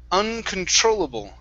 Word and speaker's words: uncontrollable: Uh, this word here is pronounced uncontrollable. Okay. So, our stress is right here.